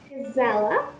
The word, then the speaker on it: Gisela: Gisela, got the pronunciation correct.